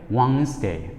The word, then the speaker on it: Wednesday: ိ တ ် ပ ါ တ ယ ် Wednesday ပ ြ ီ း တ ေ ာ ့ first syllable မ ှ ာ stress ပ ြ ီ